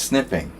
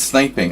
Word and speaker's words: sniping: That's snipping. There's one P. It's sniping.